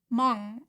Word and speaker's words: Hmong: So apparently I've been saying Hmong wrong. You don't pronounce the H, just the other part.